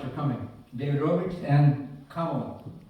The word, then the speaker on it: Kamala: David Rob and Kamala rhymes. It rhymes with koala. That's right. Kamal. Kamala. Koala. Kamala.